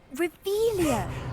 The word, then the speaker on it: Revelio: You're Revelius. saying it wrong. Ugh, Revelio. Much better.